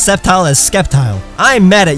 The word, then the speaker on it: Sceptile: how English works, like when people mispronounce Sceptile as Skeptile, or when they add